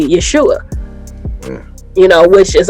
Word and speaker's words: Yeshua: If you go back to the best thing that we have for the pronunciation of his name in those times would be Yeshua.